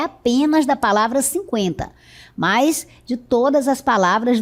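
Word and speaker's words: cinquenta: Agora você vai observar que a pronúncia é a mesma. Eu pronunciava antes 50 com o trema. E agora eu pronuncio 50 sem o trema, porque antes o trema servia para marcar a pronúncia do u.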